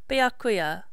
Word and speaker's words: Byakuya: mmm I had his name right it is byakuya byakuya uh then it would seem we are